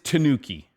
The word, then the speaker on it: Tanuki: my tanooki redcast jacket tanuki which i believe is how you say that a lot of people like to correct my pronunciation of non-english words um tanooki all right so it is tanooki so anyway when i